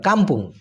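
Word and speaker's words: kampung: বলা হয় ভান্ডার আর গ্রামকে কি বলা হয় কাম্পুং কে এ এম পি ইউ এন জি উচ্চারণটা হবে ক আকার ম পয়রসু অনেস্বর কাম্পুং ওকে বান্ডিংকান বান্ডিংকান মানে হচ্ছে তুলনায় জাঙ্গান বাইন্ডিং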